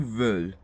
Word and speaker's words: veulent: So then there's nous, voulons, and then there's vous voulez, and then there's ils veulent. Do not pronounce the NT at all.